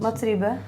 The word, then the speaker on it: Mats Riebe: Yeah, because for your first album, I read that Max Rybel, how do you pronounce it? Mats Riebe.